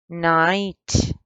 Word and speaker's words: night: The word night, the G and the H here came with each other and they are both silent. You don't pronounce them. Night.